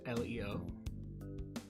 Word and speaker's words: Leio: do we begin so my name is pronounced leo the name actually